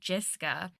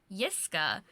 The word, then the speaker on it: Jiska: So for like years, I was calling you Jiska. And then when we had that meeting with your research team and my research team, your like one of the research leads pronounced it Yiska. And I was like, oh no, I've been saying it wrong.